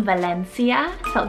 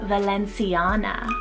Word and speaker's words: Valencia: which is so sweet so it's the name valencia v-a-l-e-n-c-i valencia nicknamed maybe valen or sia for